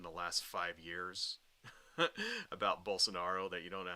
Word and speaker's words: Bolsonaro: that is but let's it's bolsonaro is how you pronounce the guy's name not Bolson Nero right I know Charlie